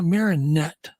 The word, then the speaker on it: Marinette: How do you pronounce that? Yeah, Marinette.